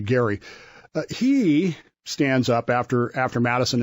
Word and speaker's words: Elbridge Gerry: We mispronounce his name regularly as Eldridge Gerry, and he is the guy for whom gerrymandering is named. Okay. But it's actually Gerry.